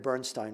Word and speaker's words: Bernstein: This is not like Leonard Bernstein, where it really should be Bernstein and not Bernstein, because Bernstein himself said Bernstein. However, he also didn't always correct people who said Bernstein.